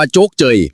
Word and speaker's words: โชคชัย: ชื่อ ว่า หมู่ บ้าน โชคชัย หรือ บาง ที ก็ ออก เสียง ว่า โจ๊กเจย หมู่ บ้าน นี้ อยู่